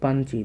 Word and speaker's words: পাঞ্চি: সাওতাল পড়ে থাকে পাঞ্চি। দেখতো উচ্চারণটা কি হবে? পাঞ্চি। পাঞ্চি। এ দেখো তোমাদের কিন্তু যুক্তবর্ণ আছে।